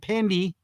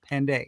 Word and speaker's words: Pandey: Not Pandy, Pandey.